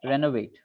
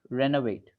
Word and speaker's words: renovate: uh syllable to stress renovate renovate renovate n actually we are stressing Ren Ren Ren okay Ren yeah and because we are stressing Ren o becomes a that is important renovate